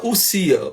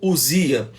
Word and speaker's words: ousia: A primeira palavra é a palavra ousia, que se escreve ousia, né? A palavra é ousia ou ousia.